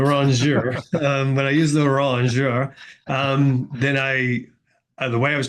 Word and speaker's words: rongeur: So your like you'll pronunciation, Rongier, I think you're doing it different just to mess with me. But keep going. Keep going. I'm finding it distracting, but the continue on. rongeur, the rongeur.